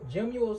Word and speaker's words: gemmule: Gemule sounds like the word gem and jewel put together.